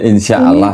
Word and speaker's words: insyaallah: Melainkan patutlah kamu berkata insyaallah kita insyaallah tulisannya di situ enggak ada tasdidnya. Jadi bacanya insyaallah gitu.